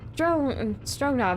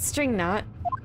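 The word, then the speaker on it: Strognoff: It's Strongnov, not string knot.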